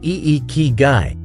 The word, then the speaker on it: Ikigai: definition of iy guy iy guy pronounced e ke guy is a Japanese term